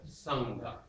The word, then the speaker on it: Sangha: So let's turn the ma into a nga. It's already, the tongue is back there. Sangha.